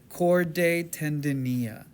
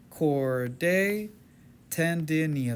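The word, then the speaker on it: chordae tendineae: Papillary muscles connect to these little strings called cordday tendinia. Corde tendinia. That's my way to help you pronounce it.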